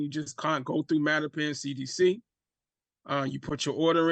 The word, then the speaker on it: Mattapan: Yeah, Mattapan CDC.